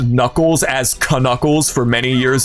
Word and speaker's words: Knuckles: It was uh it was like a mind-blowing moment when I learned that the K in Knuckles was silent. I was like, why why is the Sonic character pronounced Knuckles?